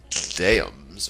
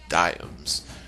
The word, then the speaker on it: diams: that it was worth two diams pronounced dams or diams per pound a simple